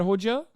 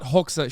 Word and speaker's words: Hoxha: Hoxha, not Hoxha. Shut up. I said it right the first time.